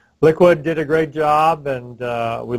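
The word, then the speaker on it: LIQUi|⟩: information on liquid which they might look at it and not know that it's pronounced liquid because it's got some funny characters in it but that liquid is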